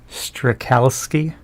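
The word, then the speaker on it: Strachowski: last name please oh strakowski strakowski yeah it's not that hard it's just a ch it's basically pronounced like a k and a confusion in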